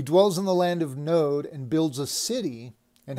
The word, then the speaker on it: Nod: in the land of node uh which is how it's pronounced in the hebrew he dwells in the land of node and builds a city